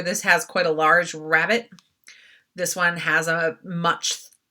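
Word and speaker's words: rabbet: frame itself um the rabbit r-a-b-b-e-t here you go um it sounds like rabbit i guess i'm saying this out loud but it's spelled with an e not an i um it's the depth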